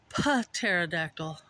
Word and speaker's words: pterodactyl: This must be the nest of a pterodactyl. pterodactyl. That's how it's pronounced.